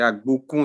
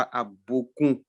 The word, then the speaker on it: Agbokoun: C'est Agbokoun, c'est pas Agbokoun.